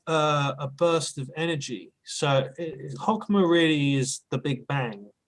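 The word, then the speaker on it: Chokmah: Bina, Hokmah. Hokma. Is that how it's Yeah.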